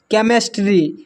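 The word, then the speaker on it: chemistry: यहां पर लिखा हुआ है केमिस्ट्री। केमिस्ट्री में जो है एच साइलेंट है।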